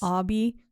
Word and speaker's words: Obi: Spelled Obi. Obi, yeah, right? That's why I was like Obi, but it's Obby. But he pronounced it Obby.